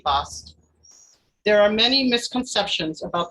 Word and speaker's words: Bast: good offering for her her name is sometimes written as bastet but that is due to a mistransliteration of her hieroglyphics the second letter t was only to signify a female ending the correct pronunciation should be best there are many misconceptions